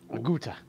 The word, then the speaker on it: Aguta: Oh, it's a Gouda. That's how you pronounce it. Aguta.